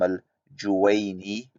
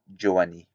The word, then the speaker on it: al-Juwayni: jurisprudential departments, whereas he cannot even pronounce names of great scholars like Imam al-Juwayni. He pronounces it Juwani.